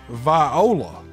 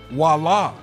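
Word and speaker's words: voilà: seen this word in my life and i pronounced it viola because i phonetically pronounced it out now of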